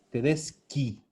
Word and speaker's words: Tedeschi: Tedeschi. Sí. Ki. Tedeschi. Ya no tiene el sonido chi, es ki. Tedesca. ¿Y el plural de Tedesca? Tedesque. Tedesco. Tedesque. Tedesco, Tedeschi, Tedesca, Tedesque.